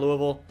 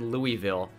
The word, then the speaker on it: Louisville: Cooper Willis out of Louisville, which some people say it's like, it annoys me when you say that. That's how the city is actually pronounced. It's not Louisville or Louisville.